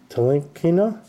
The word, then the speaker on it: Ntilikina: Ball, Gay, Adams, Gobert, Embiid, Bledsoe, Frank Ntilikina, that's how you pronounce that, Teal Explosion, oh, Zion, class of 2019, Rudy Gobert, lights, camera, action, jeez, I can't hear.